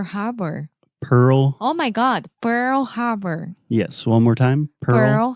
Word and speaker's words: Pearl Harbor: I I think that I got used to say Pure Bar so much and you used to correct me so much with peer peer peer you can't say pearl so a good thing